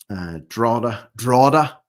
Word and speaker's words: Drogheda: The first one of which is in Drogheda. Yeah, I've got the pronunciation down now. Drogheda.